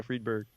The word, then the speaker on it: Friedberg: Yeah, Friedberg.